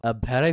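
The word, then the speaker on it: vary: শান্তি চুক্তিতে প্রবেশ করল ভ্যারাই ফ্রম এটাকে অনেকে ভেরি উচ্চারণ করে কিন্তু আমরা এটাকে উচ্চারণ করব ভ্যারাই ভ্যারাই ফ্রম মানে হচ্ছে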